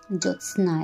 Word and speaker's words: জ্যোৎস্না: জ্যোৎস্না খণ্ডতার উচ্চারণ অবশ্যই করতে হবে, কিন্তু এখানে কবিতার খাতিরে কবি যেমন বলেছেন বা লিখেছেন সেরকম জ্যোৎস্না কথাটা অন্যরকম উচ্চারণ আছে, কিন্তু স্বাভাবিকভাবে জ্যোৎস্না এটাই বলতে হবে।